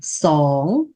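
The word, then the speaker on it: ສອງ: Hai là sóng. Sóng là hai.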